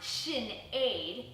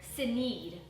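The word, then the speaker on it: Sinéad: they're shalom who's 16 sinead pronounced shin aid who's 15. by the way don't ask me why it's pronounced that way i think my mom said it was irish which is cool she hates it when someone calls her saneed or aid then there's sade who's 11.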